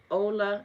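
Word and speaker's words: Ole: I wanted to say Olay like literally cuz it is O L E. And I went and looked at his video. He said his name is pronounced Ola.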